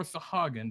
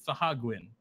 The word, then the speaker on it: Sahuagin: Another creature that does is one of the classic monsters, the Sahuagin, or Sahagin, depending on who you pronounce it. God, I even know some people who pronounce it Sahagwin, but that's nowhere near correct.